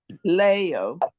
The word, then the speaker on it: leo: juy Kea yes Leo Leo not le le Leo Le not Leo Le